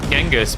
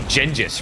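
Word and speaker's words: Genghis: of pronouncing John remember most of us called him genus but it's meant to be gingis right which just sounds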